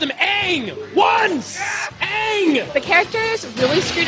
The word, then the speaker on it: Aang: names were completely butchered the main character the Avatar is named Aang in the show and three seasons in the show it's always Aang however in the film Shyamalan decided to pronounce it on why would you do that not only did he